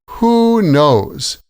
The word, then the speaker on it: Who knows: Who knows? And if you may have noticed, the stress is on both words with a pause between them.